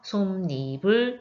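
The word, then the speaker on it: 솜이불: 솜 플러스 이불의 합성어에서 이가 결합됐기 때문에 여기서는 니은이 첨가돼서 솜니불 이렇게 발음이 되는 겁니다.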